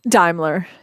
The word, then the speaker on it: Daimler: moon um authors dahmler am i i'm pronouncing your name correctly daimler yeah daimler was more okay i'm sorry that